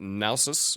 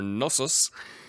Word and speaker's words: Knossos: First of all, down here in Crete, I've been calling it Knossos, but I've been pointed out that I should call it Nausos or Knossos for the English language, but of course being